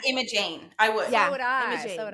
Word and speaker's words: Imogene: So in the South, I think, how would you pronounce it? You pronounce it Imogen? Imogen. Yeah. Is it just G-E-N at the end? G-E-N-E. G-E-N. G-E-N-E. on the end. I would pronounce that Imogene.